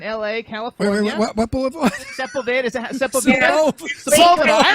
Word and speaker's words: Sepulveda: We pronounce it Sepulveda here. I'm from Florida. Sepulveda. That's always the way they pronounce it first, Sepulveda, but it's actually on Sepulveda. And it's kind of, right there along the 405.